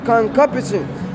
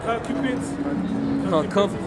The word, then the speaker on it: concupiscence: But sin, taking occasion by the commandment, wrought in me all manner of concupiscence. Did I say it right? I can never say the word. Concupence?